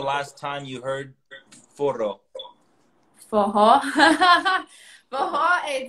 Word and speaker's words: Forró: Foho. Foho, this is one of the words that you pronounce it with like an H.